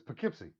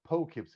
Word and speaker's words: Poughkeepsie: you guys both say but it's poughkeepsie poughkeepsie thank you thank you for kimchi like just be like thank you we are doing our own speech there over here and no no sorry because ben the other day kept on calling it poe kipsy and i'm like it's